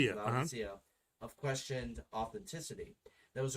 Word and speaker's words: Laodicea: supposed canon of uh i'm mispronouncing this leo diccio laodicea of questioned authenticity that